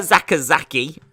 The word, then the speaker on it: Sakazaki: We've got Yuka Sakazaki. That's how you say it.